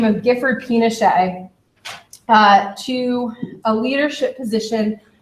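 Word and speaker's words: Pinchot: appoints a gentleman by the name of gford pet p i n o c h t well he's it's spelled for you up here as well um appoints a man by the name of gford pet uh to a leadership position within the department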